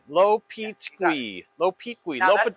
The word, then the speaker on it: Lopetegui: Lopetegui. Lopetegui.